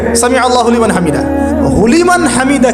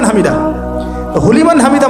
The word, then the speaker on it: সামিল্লাহু লিমান হামিদা: at least বলবে এই উঠে সামিল্লাহু লিমান হামিদা কি হুলিমান হামিদা বলে কি কোন শব্দ আছে নতুন শব্দ বানালাম আমি